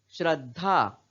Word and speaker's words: श्रद्धा: हर चिन्ह लगा है श्रद्धा हम इसे श्रद्धा श्रद्धा नहीं पढ़ते पढ़ते हैं श्रद्धा क्या उच्चारण करते हैं श्रद्धा क्योंकि बीच का यह जो द है जिसको हम आधा ही उच्चारण कर रहे हैं आधा ही बोल रहे हैं और आधा क्यों बोल रहे हैं क्योंकि दम में हर चिन्ह लगा है उसी तरह यहां